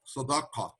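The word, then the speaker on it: صدقة: Let me pronounce it properly in Hebrew, tzedakah, and in Arabic, sadaqah, the same word.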